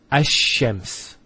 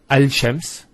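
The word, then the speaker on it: الشَّمْس: So it's Ash-Shams. not al-shams. Because notice when you say al-shams, it's not smooth.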